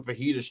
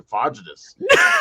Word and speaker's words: fajitas: pronounce stuff wrong too i used to call chicken fajitas chicken fagitus because i used to always